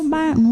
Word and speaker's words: Baton: But Baton Rouge.